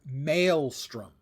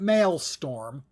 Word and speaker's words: maelstrom: The word is mastrom, not masttorm. The number of streamers I have seen mispronounce that word drives me crazy. I understand why you would think mailtorm, but that's the kind